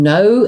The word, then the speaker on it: know: do get confused now the one with a silent k no right refers to